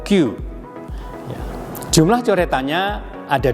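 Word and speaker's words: 九: Cara bacanya secara kungyomi itu dibaca kokonotsu, sedangkan secara ongyomi ini dibaca dengan ku atau kyu.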